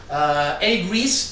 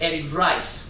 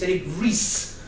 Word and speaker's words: Eric Ries: You probably know this guy, Eric Ries. There are a couple of interesting things about him. The first is that everyone that reads the book says Eric Rice, because the R-E-S-E, you should expect that to be pronounced rice.